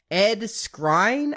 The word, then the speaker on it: Ed Skrein: It's Ed Skrein, I think is how you would pronounce it.